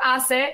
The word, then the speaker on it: HACE: We call it HACE or ACE. If we pronounce it in Spanish, they can be a part of that.